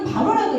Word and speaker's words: 바로: 바로 이집트의 왕 파라오 영어 발음은 파라오인 히브리 바로라 얘기합니다 자 바로가 이집트의이 애굽의